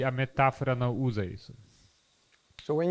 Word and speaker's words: metáfora: E a outra seria uma metáfora. A-F-O-R-A. With an accent on the first A.